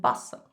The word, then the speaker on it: bustle: And please note that we don't pronounce the T's, hustle and bustle.